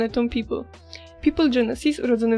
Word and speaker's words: Pipl: i miłości do kosmosu jego wymawiamy tak samo jak People reprezentuje nowe pokolenie to